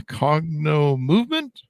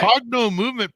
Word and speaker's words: Cognomovement: coach a uh what do how do I pronounce this correctly Katie a cogno movement you got it yep perfect cogno movement practitioner this is why we do the show